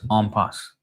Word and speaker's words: impasse: An impass or is pronounced as armpass.